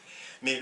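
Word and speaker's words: ماء: Par exemple, l'eau en arabe se dit le ma', même si en dialectal, on évite de la prononcer, on dit le ma. Mais en principe, c'est le ma'.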